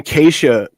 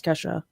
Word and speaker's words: Kesha: And then Keisha posted a photo with a Wendy's cup just to throw shade at Katy Perry.